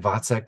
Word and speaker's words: Waczek: yes so once again my name is vek that's spelled w a a c z k if